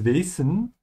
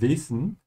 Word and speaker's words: Wesen: Susan said das Wesen, and you can also hear das Wesen. They are both correct. It's just that in northern Germany and Austria, they tend to use the S sound more. So you would hear more das Wesen. Yeah, in northern Germany, you would hear more of a Z, das Wesen. Yeah, they're both correct. Just be consistent.